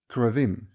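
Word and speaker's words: כרובים: But in Hebrew, it is pronounced correctly as Keruvim, derived from the word karov, which means close.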